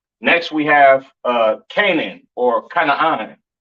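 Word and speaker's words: כנען: This is pronounced Canaan, all right?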